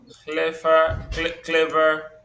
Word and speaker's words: clever: So slender, clever, happy. So these words they're stressed on the first syllable.